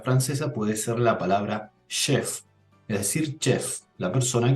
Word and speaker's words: chef: Para nosotros en español es chef, pero siendo una palabra francesa se pronuncia chef, porque también comienza con ch, chef.